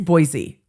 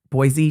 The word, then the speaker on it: Boise: It is Boise, like Disney. It's same. Boise, Disney.